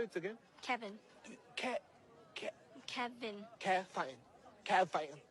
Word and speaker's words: Kevin: Kevin. Kevin. Kevin. Like Kev in.